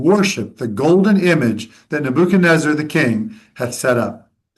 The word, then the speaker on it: Nebuchadnezzar: When I say Nebuchadnezzar, that's the way I pronounce it, because in Arabic we say Nebuchadnezzar. But here I know you say Nebuchadnezzar. I switch back and forth.